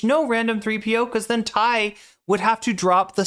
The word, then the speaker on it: Thai: It's very important for whatever reason that H appear before the that H which isn't pronounced in Thai appear before the consonant which is pronounced.